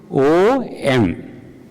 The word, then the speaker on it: Om: Means O-M. Then he corrected that Om is a word whose spelling is not O-M. Means in terms of pronunciation. It is actually 3 letters that combine.